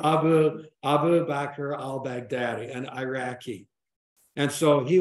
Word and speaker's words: Abu Bakr al-Baghdadi: by this guy uh phonetically Abu Bakr al-bag Daddy yeah Abu Abu Bakr al-baghdadi and Iraqi and so